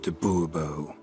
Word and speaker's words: de Bobo: de Bobo fine Monsieur de Bobo the emphasis falls on the last syllable Bobo mm-hmm see now